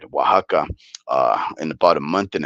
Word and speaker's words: Oaxaca: in Oaxaca, or let me say it right, Oaxaca, in about a month and a half.